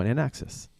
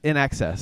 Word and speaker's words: INXS: the whole time no in axis in excess in excess well I said it wrong it's INXS in excess right but you're still